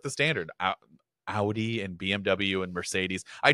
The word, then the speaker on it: Audi: these Brands I look the Audi Audi yes it's Audi I know we don't say that here in the states okay even the people